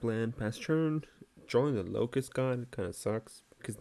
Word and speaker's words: Locust God: deck works it's not it's like about to pronounce it as lotus god but it's not lotus it's locus because obviously it's the god not the land so all right reeves